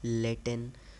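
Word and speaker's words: latent: का मतलब होता है लेटें टी साइलेंट होता है यहां पे ठीक है लेटन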